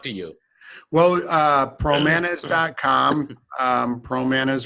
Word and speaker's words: Pramanas: you well pramanas comm Pro Manas rhymes with bananas PR o ma na